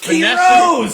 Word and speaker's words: Quiroz: Can you pronounce? I love it. I love it because no, give me no. It's Quiroz.